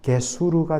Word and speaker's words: 게수르: 여러분, 거술, 우리 한글 성경에는 거술이라 되어 있는데 이걸 그냥 히브리식으로 제대로 발음하면 게수르가 됩니다.